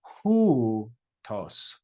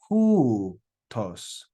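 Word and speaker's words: οὗτος: That word is pronounced hutos, hutos, hutos. You've got the diphthong. This is a diphthong, omicron, upsilon.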